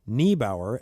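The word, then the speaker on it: Neibaur: also concluded with saying, in German, the diphthong EI, an E followed by an I, is pronounced like an English long I, as in island.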